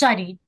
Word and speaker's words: Shadi: Yeah, I'm not sure if I'm going to pronounce the name right, Shadi. Sorry, I was mute. I was on mute. Yes, Shadi, that is correct.